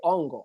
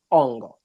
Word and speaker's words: Ongo: And then when you go to my tribe, we say Ongo, which is, we take the K is silent. We say Ongo.